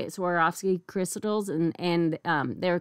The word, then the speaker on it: Swarovski: Jewels like um how do you say it Swarovski Crystals and and um they're kind of like